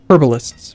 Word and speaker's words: herbalists: blacksmiths and 1% herbalists herbalists people don't like it when I don't pronounce the h um the problem is